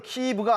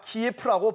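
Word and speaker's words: Київ: 우리가 우크라이나 수도를 키이브가 아니라 키예프라고 부르는 것은 마치도 서울의 일본식 발음을 영어로 표기하는 것과 같은 경우가 아닐까요?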